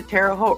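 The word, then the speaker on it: Terre Haute: we went down to terot rhymes with boat Indiana and it was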